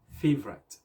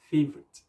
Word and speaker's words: favorite: the word favorite itself a lot of people say favorite with a high sand but the correct pronunciation is favorite so like the example